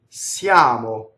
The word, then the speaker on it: siamo: Now here's an I, that's a silent semivowel. Siamo, right?